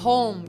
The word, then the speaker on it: home: Eu quero falar home, tirando o E do final.